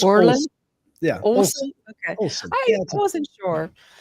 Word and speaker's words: Olsen: Could you pronounce that for me? It's Orland.